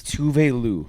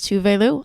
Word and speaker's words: Tove Lo: tuve Lou is the correct pronunciation is it yeah I always thought it was two-way Lou it's two Valu I recently learned this